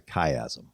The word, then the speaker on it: chiasm: In the case of Leviticus, it was written as a chiasm. Chiasm. Spell that, please, and then tell us what it means.